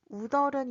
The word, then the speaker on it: 웃어른: In this case, you should first apply "Rules of Korean final consonant pronunciation" to the word '웃' and then apply the linking sound.